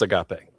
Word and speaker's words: agape: What's agape?